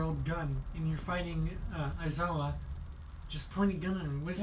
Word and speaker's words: Aizawa: Azua, because Aizawa? if he's Aizawa. Oh, say his name right. Azua. Aizawa, yeah.